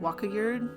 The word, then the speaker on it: Wakayard: Personally, I pronounce it Wakayard. You could just call me Waka. Waka works just fine. I know every time. It's like Waka, like Pac-Man, I would say. Waka and then Yard.